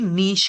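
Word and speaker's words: niche: ये वर्ड नीश प्रोनाउंस होता है, नीचे नहीं।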